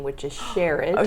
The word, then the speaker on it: Sherard: like a six-yard yes pronounced share it share it that's a beautiful never